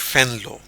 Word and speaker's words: Venlo: Dutch ज़बान में वी को फे पढ़ते हैं, तो अगर वो कैसे वो इसको कैसे प्रोनाउंस करेंगे? वो प्रोनाउंस करेंगे डच फेनलो, ठीक है।